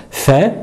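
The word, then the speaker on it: ف: Alors cette lettre, c'est pas une lettre qui est emphatique, donc nous ne dirons pas fa, fa, mais plutôt fa, fa, fa, fi, fou, fa, fi, fou.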